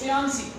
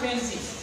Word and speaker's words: fiancé: Fiancé. Not fancy.